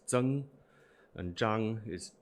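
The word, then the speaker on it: 莊: Zhuang is Zheng.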